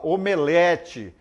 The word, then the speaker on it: omelete: Olha só exemplo sair pronúncia correta timbre fechado e e o né Então você fala omelete alcova crosta são palavras são times corretos né então você omelete alcova crosta não é o omelete ao curva e crosta muito bem pronúncia errada de time aberto é e o omelete alcova e crosta muito bem então você